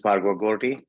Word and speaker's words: Bhargava Gorty: Bhargava. Did I pronounce that right? Please correct me. Yeah, Leah, good morning and good evening to all from Davos. This is Bhargava Gorty.